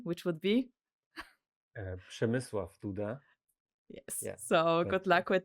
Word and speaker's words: Przemysław Duda: And if you're brave enough, then try to pronounce his Polish name, which would be Przemysław Duda.